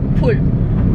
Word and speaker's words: Bul: Sa Korean kasi, yung B. Para siyang P. P and B. It's like an in-between. So it's like pul.